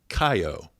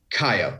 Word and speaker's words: Kaiyo: So already I've gone off base because I pronounced the whiskey wrong. It's And Kaiyo. Kaiyo, and don't worry, you're definitely not the only one.